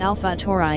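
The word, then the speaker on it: Alpha Tauri: example Aldebaran is designated a tour I pronounced Alfa tour I and abbreviated a Dow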